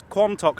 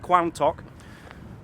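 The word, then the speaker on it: Quantock: Quantic Hills about me I was pronouncing it wrong the other day it's qualm talk not quang talk qualms talk hills and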